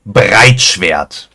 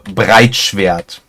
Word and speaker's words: Breitschwert: German we would say Breitschwert. And you see the difference in the R over there. Like the pronunciation is a little off, or a little bit more intense.